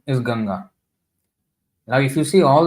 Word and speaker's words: Ganga: for every other River why we should have the British way of pronouncing the ganga Rivers as gangas so I I just prefer to read it as ganga so so once in